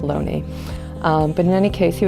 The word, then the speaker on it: Looney: His name spells Looney, but I believe it's correctly pronounced Loney.